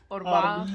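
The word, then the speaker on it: أربعة: Orba.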